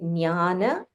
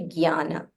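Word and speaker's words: jñāna: You can either say Jnana or you can say Jnana. So in Tamil, we have Nya. So for me, Nya is more comfortable.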